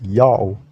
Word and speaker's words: Ya'oh: have these evidences that this name is pronounced yao how it is really